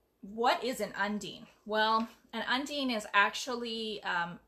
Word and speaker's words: Undine: people don't actually know how to say Undine and that is how you say it Undine or Undine is not undying it's like marine okay so it's Undine it's